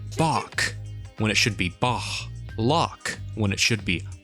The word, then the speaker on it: Bach: You keep on pronouncing it like more of a K though. Bach, or the Loch Ness Monster.